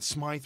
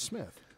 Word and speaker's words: Smith: And Smith is spelled with Y. S-M-Y-T-H. We probably should start saying Smythe Radio, but I don't want to because it's not appropriate. Because it really is Smith.